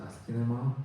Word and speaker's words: asciinema: So, I was saying that uh the name is the Askin name is problematic, but I like it. So, uh just I I pronounce it Askin.